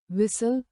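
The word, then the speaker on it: whistle: उदाहरण psychology psychology pseudo shadow साइलेट टी मॉनटी जब एफ या एस के बाद टी आई या टीसी एच का संयोजन हो तो टी साइलेट होता है। उदाहरण विसल विसल कैसल कैसल लिसन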